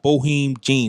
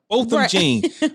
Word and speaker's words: Botham Jean: Ugly Crying Lady, the one-time police officer who fatally shot Bohem Jean. Is that how you say his name? Bohem Jean? Yeah, just push, yeah. Botham B. Jean. Botham Jean.